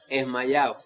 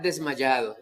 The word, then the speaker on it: desmayado: Te dice, de ahí viene la palabra mal pronunciada, esmayado. O sea, estar desmayado realmente es estar desmayado.